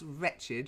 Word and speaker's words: wretched: of English pronunciation so here we have the word wretched with the W that's wretched you wretched thing you